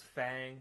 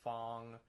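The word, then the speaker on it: F.A.N.G: Because at first it's like, I thought it was Fang, but then like the announcer says Fong.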